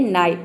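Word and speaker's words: knight: है ने रूल है यदि किसी वर्ड में आई जी एच अगर एक साथ हो तो आई जी एच को हमें आई प्रोनाउंस करना है एग्जांपल देख लेते हैं नाइट यहां पे देखिए एन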